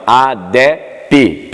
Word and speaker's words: ADEP: é Ministério adep pessoal às vezes pensa que adep é mudo não o é p é no final adeppe no final Amém Deus abençoe muito